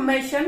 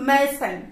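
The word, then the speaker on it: mason: বলে মেসেন মেশান মানে আমরা বলতাম মেশান কিন্তু উচ্চারণটা হচ্ছে মেসেন ঠিক আছে মেশান কিংবা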